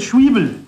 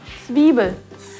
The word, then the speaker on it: Zwiebel: Schwiebel. Zwiebel.